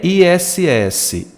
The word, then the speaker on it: ISS: E é ISS, ISS, eu pronuncio letra a letra e mesmo porque só são 3 letras.